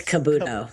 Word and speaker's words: Kabuto: How do you pronounce it? Kabuto or Kabudo? It's Kabudo.